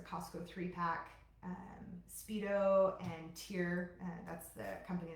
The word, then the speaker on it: TYR: Um Speedo and Tier, that's the company that's tyr, but it's pronounced tier.